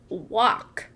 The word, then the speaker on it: walk: It says walk. You're right. That is a trap word. We notice A-L-K in the spelling of walk, but I'm not sure that I hear the A or the L.